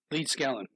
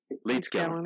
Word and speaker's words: Leedskalnin: How do you pronounce his last name? Leedskalnin. Leedskalnin.